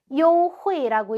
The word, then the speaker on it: 优惠: 그 다음 단어는 발음이 优惠 요회라고 읽고요. 이 회는 우리 혜택할 때 해자거든요.